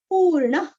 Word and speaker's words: पूर्णः: सा ख, पुरुष, पुरुष, पूर्ण, पू दीर्घ और न के आगे विसर्ग का उच्चारण है हल्का सा ख, पूर्ण, कौसल्येयो, कौसल्येयो, रघुत्तमः, रघुत्तमः,